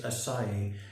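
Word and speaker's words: açaí: that, I know some people may call it Acai, some people may call it Acai, but apparently the correct pronunciation for this superfruit that I must admit I hadn't heard of is Acai.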